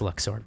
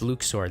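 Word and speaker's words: Luxord: No, cuz Lux sword makes more sense because luck as in cuz he's all about gambling, but it's pronounced Luke sword. That's how they pronounce it in Kingdom Hearts 3.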